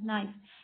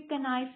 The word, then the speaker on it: knife: KNIFE, नाइफ। इसे हम कभी भी कनाइफ नहीं पढ़ते, इसे हम नाइफ पढ़ते हैं।